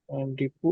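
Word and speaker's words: depot: Company का वित्तीय वर्ष 30 सितंबर 20X5 को समाप्त होता है, और यह 18 वितरण डिपो और एक केंद्रीय गोदाम वाली एक थोक खाद्य संचालक कंपनी है। इसका उच्चारण 'डिपो' है।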